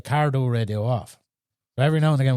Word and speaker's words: Cardo: Cardo radio off, and some lads were pronouncing it wrong, cardio and cardo and cardi this and cardi that, and the lads be giving out, you're not saying it right.